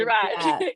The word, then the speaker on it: Daraj: I was like, wait, it's Jared's backward. Daraj. Yeah. It took me a while. I always had to like spell it out, Jared, and like flip it and be like, oh, Daraj.